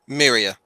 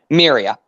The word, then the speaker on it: Miria: Miria. Yeah, Miria.